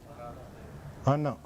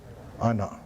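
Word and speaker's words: أنا: لیکن قاعدے کے حساب سے تو یہ بنتا ہے انا, لیکن یہ لکھا اس طرح جاتا ہے, بولا اس طرح جاتا ہے. یہ واحد ایک لفظ ہے جو جس کو ہم کہتے ہیں خلاف قاعدہ, قاعدے کے خلاف جس کا تلفظ ہے. اس لیے قاعدے کے مطابق تو اس کا تلفظ ہونا چاہیے تھا انا, لیکن خلاف قاعدہ لکھا اسی طرح جائے گا, خلاف قاعدہ بولا جائے گا یہ انا.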